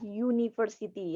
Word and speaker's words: University: kata vokal taupun konsonan Mainkan suara yang dihasilkan pada kata University meskipun itu hurufnya u a Taufik call tapi kita membacanya atau menyebutkannya dengan kata University yang diawali dengan y u yu niver Siti jadi itu menggunakan artikel